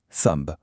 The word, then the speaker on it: thumb: Climb, comb, thumb.